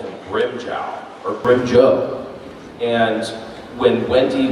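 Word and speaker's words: Grimmjow: And so I had always called him Grimjow, or Grimjoe. And when Wendy was directing me in the anime, she's like, no, you need to pronounce it Grimjow, okay? And so I pronounced it Grimjow.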